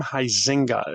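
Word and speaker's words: Huizenga: Um that's Harm Heisinga is how you pronounce that last name.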